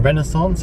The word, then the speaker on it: Renaissance: into the hotel now the renaissance or renaissance as the americans say on the uh when